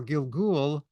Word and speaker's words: gilgul: all the Hebrew word is very colorful word Gil Gul you could spell it g i l g l gilgul literally